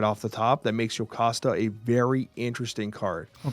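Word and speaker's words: Jocasta: It's a Yokasta, which I think is how that would be pronounced, is a 33.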